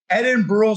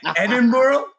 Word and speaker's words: Edinburgh: Edinburgh? Edinburgh. How did I say it? You were more like a borough. Edinburgh. No, that's how it's Edinburgh. Edinburgh. Yeah, you got to roll it.